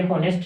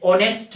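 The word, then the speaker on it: honest: ये हॉनेस्ट नहीं है बेटा, ये ऑनेस्ट है। क्या है? ऑनेस्ट। और यहां से कौन सी साउंड निकल रही है? ओ, क्योंकि इसमें एच साइलेंट है।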